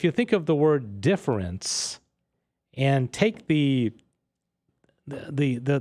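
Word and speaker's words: différance: differently okay and the the point he's trying to make is it's pronounced the same but it means something different and it's spelled differently and the only way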